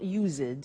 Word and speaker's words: used: we use used to look at the spelling yes it's it's us Edie and then T ough but the pronunciation is not used it's used unusual used ok so the